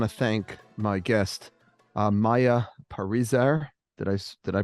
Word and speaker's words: Parizer: Okay, welcome to the Wildes cast, and I want to thank my guest, Maya Parizer. Did I pronounce that correctly, Maya?